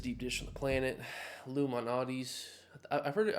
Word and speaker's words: Lou Malnati's: I've heard it I've heard it called Luminati's by Chicagoans. It's spelled like Lou Malnati's. I don't even know. Man, I'm I guess I'm going to go Chicagoan and just say Luminati's. Ooh, that deep dish is crazy.